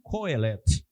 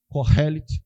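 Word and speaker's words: Qohelet: exatamente o pregador tá Alguns vão chamar de coel mas a maioria Corel porque a a pronúncia Hebraica faz sons de sopros passando pela garganta tá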